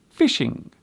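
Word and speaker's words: phishing: This word is indeed pronounced as fishing, but as you can see, it is spelt with a PH at the beginning. This particular fishing means to attempt to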